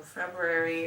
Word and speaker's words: February: How do Americans actually pronounce the second month of the year cuz I say February. February, but I'm pretty sure most Americans say February. Like that first R isn't even there.